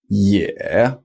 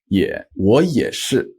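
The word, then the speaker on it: 也: is the pronunciation E when it's on its own it's spelled ye e such as with also in Chinese which is a third tone yeah yeah now pretty much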